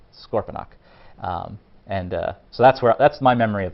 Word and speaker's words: Scorponok: So it's not Scorponox, it's not Scorponic, it's Scorponok.